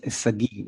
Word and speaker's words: Sagi: By the way, it's Sagi. I know not like Oh, Sagi, sorry. most people don't get how to pronounce my name, which is terrible.